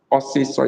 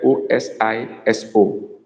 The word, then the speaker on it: osiso: Osiso is spelled O-S-I-S-O.